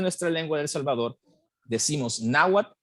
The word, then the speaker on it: Náhuat: decimos náhuatl y no náhuatl verdad Y esto es porque a diferencia de las lenguas náhuatl de México el náhuatl salvadoreño no tiene el sonido que el sonido que se escribe con TL verdad Y por eso era